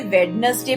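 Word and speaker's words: Wednesday: Baij as knowledge जज budget वेनसडे हम इसे वेनसडे प्रोनाउंस नहीं करते वेनसडे इन सभी वर्ड्स में डी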